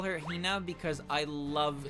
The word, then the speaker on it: Hina: I call her Hina because I love saying Hina like that. I love putting so much emphasis on the first syllable of her name.